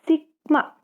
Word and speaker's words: sigma: Nah, di situ ada simbol E-nya kayak gitu, itu dibacanya sigma.